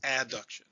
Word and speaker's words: adduction: you know what i'm talking about abduction versus adduction a b duction means i'm taking something away